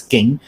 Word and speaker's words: Jing: This one Jing here is King. In Cantonese, it pronounced as King.